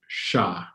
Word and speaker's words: siya: in Tagalog and that's siya remember once again the I why don't let it throw you off it's as if it's just an SH sound sha sha TST